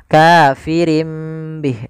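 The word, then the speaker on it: كَافِرٍۭ بِهِۦ: maka ini kita baca kafirin Bih awalnya kafirin Bih karena dia ganti suara nunnya kafirim Bih diganti dengan huruf mim kemudian ketika kita melafalkan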